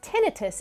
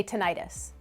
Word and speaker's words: tinnitus: absolutely can fun fact number two it's actually pronounced tinnitus in the medical community but others tend to say tinnitus back to the first fun fact having tinnitus